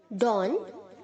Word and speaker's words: dawn: DAWN को pronounce करेंगे आप DON, डॉन, ओके।